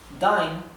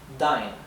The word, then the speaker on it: dine: Dine, to dine. Dine se pronuncia dine y no din. ¿Por qué? Porque acá tenemos una sola consonante y luego una vocal que están siguiendo la letra I.